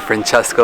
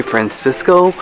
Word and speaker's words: Francesco: He said Francesco. That makes me really happy. Because a lot of people usually call me Francisco, but that's not the correct way to say it.